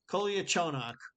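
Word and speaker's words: Kolyachonok: I can say it, Koliachonok.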